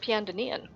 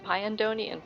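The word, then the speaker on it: Pyandonean: I learned it's pronounced Piandonian. I've been saying Pyandonian for years, but it's Piandonian.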